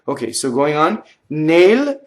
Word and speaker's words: nel: Nail, N-E-L, is closed E.